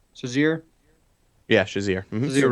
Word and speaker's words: Shazier: Yeah, Shazier.